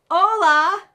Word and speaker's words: hola: Hola.